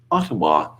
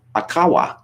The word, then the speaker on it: Ottawa: For the record, it's a place called Ottawa, Carlson said, stressing the second syllable instead of the first, which would have been the typical Canadian pronunciation.